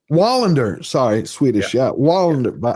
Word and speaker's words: Wallander: Yeah, and the chat corrected me. I was right the first time. It is Wallander, and Wallander is Swedish, not Norwegian. Wallander, sorry, Swedish.